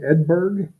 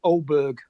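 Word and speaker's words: Åberg: with is his name edberg when he Ed edberg when he dropped it in the drink that's it it's an a with a small circle above it so it's pronounced oberg oberg oberg yeah he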